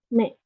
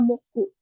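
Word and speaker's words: 目: Me, me ya, me ya. Untuk cara bacanya dari kunyomi-nya atau cara baca Jepangnya ada me. Untuk cara baca konyominya ada moku ya, me dan moku.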